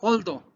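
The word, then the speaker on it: although: a ajustar soporte apoyar hondo vean un toldo cómo se pronuncia el dow aunque tenga muchas letras muchas letras ustedes digan hondo todo el mundo aunque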